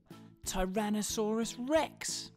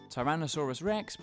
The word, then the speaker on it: Tyrannosaurus rex: billy alex bye baryonyx biryanix julia resource rex tyrannosaurus rex how do you say that again tai ra na sa rex it's often called t-rex for short though